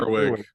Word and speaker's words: Gerwig: And then Greta, how do you pronounce her last name? Gerwig.